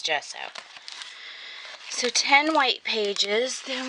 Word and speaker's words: gesso: 10 white pages actually these are gesso that's how you say it i always want to call it guess out but it's gesso so 10 white pages